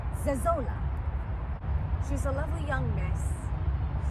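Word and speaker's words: Zezolla: Her name is Zezola. I always heard Isola, which is also easier to pronounce. Zezola.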